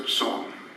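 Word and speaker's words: Xiong: is his daughter Hassan and you spell that x-i-o-m-g but she pronounced it a song foreign a church group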